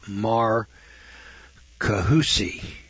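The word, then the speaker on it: Marcahuasi: c m-a-r-c-a-h-u-a-s-i in peru is a plateau called mar kahusi peru four dimensional art carvings which according to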